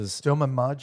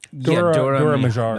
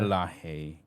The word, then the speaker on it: Dora Milaje: Like Stoma Maje or something like that. Dora Milaje. Milaje.